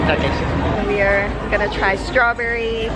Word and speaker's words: Takeshita: Okay, so I pronounced it wrong, but it's Takeshita Street. Takeshita.